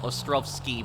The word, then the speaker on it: Ostrowski: In Polish, you would read it Ralph Ostrowski, because in Polish, the W is pronounced as a V.